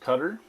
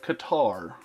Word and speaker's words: Qatar: he was telling me pronounced cutter not Qatar but here I am